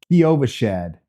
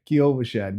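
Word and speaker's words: Kyovashad: say it more slowly for you okay it's Kovash Shad kashad kashad got it boss damn that's tricky to pronounce but hey at least we're learning something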